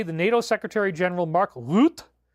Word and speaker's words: Rutte: Yesterday, the NATO Secretary General Mark Rutte, I love that, right? That pronunciation, was in Washington meeting with 47. Today, Rutte is, oh, I even got the tongue roll on that one.